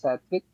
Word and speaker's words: Sathvik: My name is Satvik. You pronounced it right.